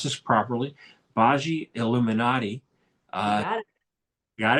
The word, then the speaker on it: Bhaji Illuminati: Her name is, and let me pronounce this properly, Bhaji Illuminati.